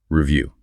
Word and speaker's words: review: The word is review. Okay, repeat after me slowly. Review. Good. Again, listen carefully to the stress. It's on the second syllable.